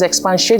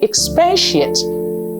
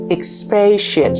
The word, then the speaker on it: expatiate: shocked to realize that there is no such word as expans shate where did we get the N from we misspell it and we mispronounce it there's no such word as expansi you should say expatiate expatiate and let me ice